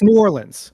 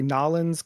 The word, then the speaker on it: New Orleans: It's New Orleans, okay? Like I feel like if you say New Orleans, that's when we know you're not local. Okay. Some people will say N'awlins cuz I don't know